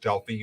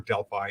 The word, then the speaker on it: Delphi: lived in a town called Delphi or Delphi, either pronunciation is okay, in Greece.